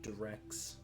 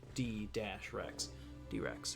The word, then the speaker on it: Drex: It's spelled Drex, there's no space, and that's because special characters aren't allowed in the names of things. Otherwise it would be D-Rex. But Drex also works fine.